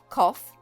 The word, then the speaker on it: cough: and see which rhyme cough off cough plough cough trough yes cough rhymes with choices a and c cough off and cough trough english can be a